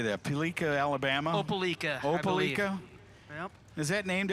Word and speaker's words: Opelika: Was it Ablika? How do you say that? Peleika, Alabama? Opelika.